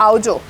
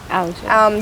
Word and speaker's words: Aavjo: इज a Marwari word या pronounced आवजो आवजो Gujarati में आव जो बोलते हैं मारवाड़ी में आओ जो बोलते हैं आओ जो सा या तो एंड आई